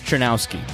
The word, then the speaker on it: Czerniawski: I am very excited to talk today to James Trinowski who gave me a pronunciation guide before.